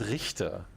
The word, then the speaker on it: Gerhard Richter: that matter now victor it's it's pronounced richter then learn to pronounce german words girl so no achievement that